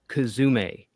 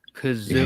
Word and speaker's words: Kazoom: Not pronounced Kazume. Do not do that. It's Kazoom.